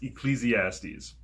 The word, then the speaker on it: Ecclesiastes: before sometimes it's a little bit hard to pronounce but it is ecclesiastes i love my grandparents and parents very much